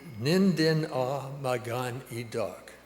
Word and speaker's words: Nindinawemaaganidok: So today I'm going to teach you how to say "Nindinawemaaganidok." So let's do it a syllable at a time. Nin din awe maagaan e dok Ninden ah, magan edak.